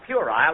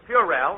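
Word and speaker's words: puerile: Well, I found out in night school that the correct pronunciation is purel and banal.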